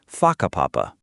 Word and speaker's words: Whakapapa: You'll hear locals casually talking about places like Huakapapa, pronounced Whakapapa.